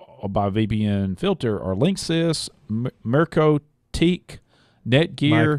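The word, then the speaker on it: MikroTik: The known devices affected by VPN filter are Linksys, Mercotic, Netgear. MicroTik. Is that how you pronounce that? Yeah. Micro with a K.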